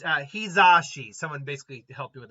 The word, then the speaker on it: Hizashi: Does someone bring up the, and by the way, it's Hizashi. Someone basically helped me with the pronunciation on that.